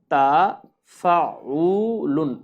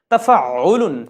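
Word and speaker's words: تَفَاعُل: যে বাবে তাফাউল বাবে তা ফাউলুন উচ্চারণটা আমরা অনেকে যারা নতুন তারা কিন্তু উচ্চারণটা একটু কঠিন হবে তাফাউলুন তাফাউলুন আইনে তাশদিদ রয়েছে এটা হচ্ছে তৃতীয় ভাব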